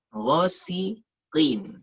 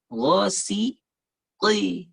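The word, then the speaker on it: غاسق: Ghosiqi. Ghosiqin. Jadi bukan Ghasiqi.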